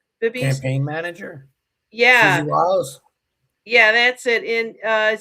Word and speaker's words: Wiles: Wiles.